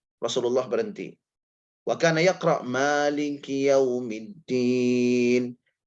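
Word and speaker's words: مالك: Wa kana yaqra maliki yaumiddin, beliau membacanya mali dengan alif, ma ada madnya di situ. Karena ada qiraat yang lain tanpa mad.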